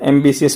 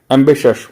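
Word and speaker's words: ambitious: बोलेंगे, ये गलत है, एम्बिशियस बोलना गलत है। एम्बिश अश, तो एम्बिश फिर अस, तो एम्बिश अश, एम्बिशस महत्वाकांक्षी, एम्बिशस। तो एम्बिशस बोलेंगे तो ऑटोमेटिकली ये साउंड करेगा बाहर वालों की तरह।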